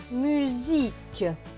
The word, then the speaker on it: musique: Donc, le S ici va se prononcer Z. Donc, S et I. Zi. Q et U. Le Q et le U vont se prononcer que. On ne va pas prononcer le U. Ça va être que. Et le E, que et E, que.